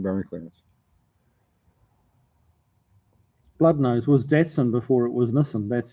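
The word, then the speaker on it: Datsun: no the other one datson datson there's no r in it d a d in N Nissan there's no R there not d r t it's not darts we're not playing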